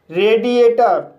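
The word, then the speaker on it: radiator: रेडिएटर इस word में आर को रा पढ़ेंगे, ए को ए पढ़ेंगे, डी को ड पढ़ेंगे, आई को ई पढ़ेंगे, ए को ए पढ़ेंगे और टी को ड पढ़ेंगे। क्योंकि गाइस यहां पर दो वोवेल के बीच में टी आया है। इसलिए टी को ड पढ़ते हैं। और ए को आ पढ़ेंगे। आर को र पढ़ेंगे। इस तरह से इसे रेडिएटर पढ़ेंगे।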